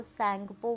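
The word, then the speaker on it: Tsangpo: तिब्बत, जहाँ पे इसको सैंगपो बोलते हैं, टी इज साइलेंट, ठीक है, तो ये नहीं है।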